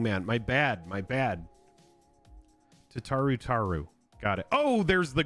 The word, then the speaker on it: Tataru Taru: Tataru Taru. Tataru Taru. Second part is said like the first part. Oh, I keep mispronouncing it. Language, young man. My bad. My bad. Tataru Taru.